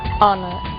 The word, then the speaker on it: honor: O som do H. Pronunciado desde a garganta, como em hotel, e mudo em 3 casos: hour, honest, honor.